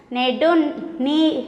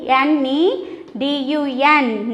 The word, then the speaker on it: Nedun: Nedun. N-E-D-U-N.